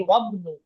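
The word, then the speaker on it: وَابْنُ: হামজা উচ্চারণ জি, করলাম, কিন্তু যখন নাকি আমরা ওয়াও যুক্ত করলাম তখন আমরা বলতেছি ওয়াবনু। মাঝখানের যে হামজাটা আছে সেটা আর উচ্চারণ করছি না।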